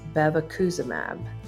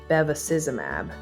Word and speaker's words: bevacizumab: In this episode, I occasionally refer to the drug we are discussing as bevacizumab, but it should be bevacizumab.